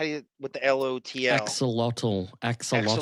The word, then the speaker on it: axolotl: Axoshi? How do you with the LOTL? Axolotl.